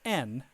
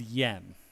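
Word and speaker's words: 円: So we're going to work on N here, which is this. So just remember when you're using Japanese using the Japanese language to talk about money, you say N.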